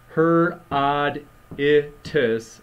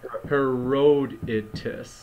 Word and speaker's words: Herodotus: be pronouncing Herodotus incorrectly should shouldn't it be her odd if is not her Road into yeah that that's that's